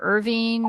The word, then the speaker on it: Irvine: drum Castle now I don't know if it's pronounced Irvine or Irving or I don't even know how it's pronounced